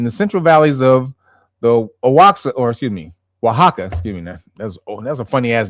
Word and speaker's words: Oaxaca: Let me tell you what it actually, it's Oaxaca. That's how you actually pronounce that name, Oaxaca. But it does not look like that.